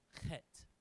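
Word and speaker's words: ח: That one, you gotta get the back of the throat. It's a guttural pronunciation. It's an H, but it's a hard H. It's pronounced chet.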